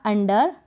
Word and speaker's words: under: आगे देखें तो यहाँ पर अंडर में आपने पढ़ा UNDER, अंडर। अंडर में आपने यू को अ पढ़ा, क्या पढ़ा, अ।